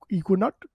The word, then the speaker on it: Ekuanot: Equinaut, maybe? EKUANOT. Equinaut? Equinaut, thank you.